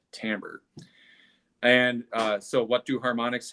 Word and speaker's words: timbre: we call Tambor and it's spelled timbre but it's said Tambor and so what do